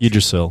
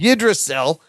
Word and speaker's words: Yggdrasil: How do you say that fucking Yggdrasil. Yggdrasil.